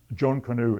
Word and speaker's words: Jonkonnu: So the essay, John Canoe in Jamaica, that's spelled Jonkonnu, which refers to a dance, an indigenous dance that she understood.